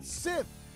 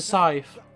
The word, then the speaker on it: scythe: Sith. Skith. It's a scythe.